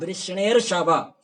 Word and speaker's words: वृष्णिर्षभ: हे वृष्णि ऋषभ, देखो वृष्णि ऋषभ, वृष्णिर्षभ, वृष्णि में ई है, उसको यण होकर के य हुआ, ऋषभ रि में य जा करके री ऐसा उच्चारण हुआ।